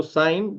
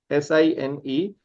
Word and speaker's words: sine: So sine, the first function is sine, S-I-N-E. How do you pronounce it? You should pronounce it as sine, right?